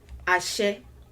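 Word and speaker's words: àṣẹ: The first thing to do is to break it down into syllables. Now if you hear me say it, ashe, ashe, ashe, ashe, ah, she, ah, she.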